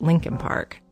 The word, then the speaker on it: Leakin Park: here about linkin park it's actually spelled leakin park l-e-a-k-i-n but almost everyone in baltimore pronounces it lincoln park it's huge over a